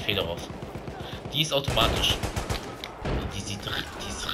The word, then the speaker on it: Fedorov: Fedorov wahrscheinlich. Ja, russische Aussprache, natürlich Fedorov.